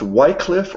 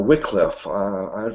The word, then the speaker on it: Wycliffe: in the 1300s John is it pronounced white cliff or Wickliffe I've heard it pronounced both ways John Wickliffe Wyclif attacked the Catholic Church